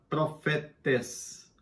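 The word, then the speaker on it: προφήτης: É uma palavra grega que se pronuncia profetes.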